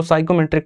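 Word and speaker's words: psychometric: railway में typing का ज्यादा रोल नहीं रहता है, रेलवे में साइकोमेट्रिक टेस्ट और स्किल टेस्ट, ये पी साइलेंट रहता है पढ़ते वक्त में, तो इसको साइकोमेट्रिक टेस्ट कहते हैं, ठीक है, जिसमें मेरे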